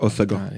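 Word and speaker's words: Hossegor: Osgore, très sympa. Très sympa. Osegor, ouais, c'est ça. Osegor, ouais, il faut dire Osegor. Ils ont une prononciation, les gars.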